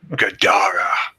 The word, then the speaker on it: Gadara: It was, and this time it spoke a 3-syllable word that sounded like Gadara. The second syllable emphasized.